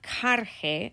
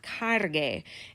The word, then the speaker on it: cargue: But if I go straight from carga to adding that E, I go to carge. And I don't want carge, I want cargue. And so just like I did up above, I'm going to add a U. And all that U does, it doesn't add a U sound. All that U does is give me the nice hard G sound that I need.